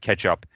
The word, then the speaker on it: k3sup: Yeah, Ketchup is how that's pronounced.